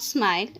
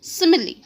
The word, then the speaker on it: simile: let us pronounce again it's not smile it's simile what is simile it